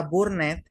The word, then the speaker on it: burned: burden, Mira, burn, esta palabra burned se pronuncia B-O-R-N-D.